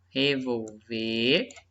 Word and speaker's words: revolver: Qual que é a minha sílaba tônica? Ó, revolver e revólver. Olha só, sílaba tônica é diferente, ó.